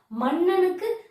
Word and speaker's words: மன்னன்: அப்படின்னு நம்ம படிச்சோம்னு வச்சுக்கோங்களேன் மன்னனுக்கு எங்க சொல்றோம் நம்ப முன்னாடியே தான் நாக்கு தொடுது அப்ப அந்த இடத்துல ரன்னகரம் தான் பயன்படணும் கண்ணீர் பாருங்க நல்லா நாக்கு மடங்கி